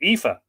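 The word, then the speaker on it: Aoife: from kansas city missouri the irish pronounced my name ifa and i love it missing my heart home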